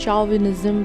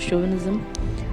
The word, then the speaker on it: chauvinism: is pronounced, people used to pronounce it as chauvinism, but the pronunciation is chauvinism.